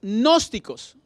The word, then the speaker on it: gnósticos: y sigue gnósticos pero la g pues no la leen pero así se escribe los gnósticos ellos era